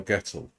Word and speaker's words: Gettle: hello welcome in your last name is pronounced like a kettle so gettle I think I just